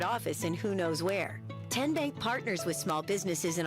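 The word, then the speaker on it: TNBank: How do you say the name? Ken Bank. Nope. Tin bank. Uh-uh. So, what is it? Tenbank. 10 as in Tennessee.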